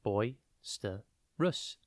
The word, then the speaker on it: boisterous: It's pronounced boisterous, and it's spelt B-O-I-S-T-E-R-O-U-S. Think boy with an I, then stir, S-T-E-R, and then O-U-S.